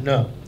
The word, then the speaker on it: Nun: Nun.